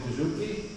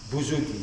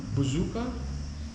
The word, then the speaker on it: bouzouki: And this is the bouzouki. And then more bends. How do you pronounce bouzouki? Bouzouki, yes.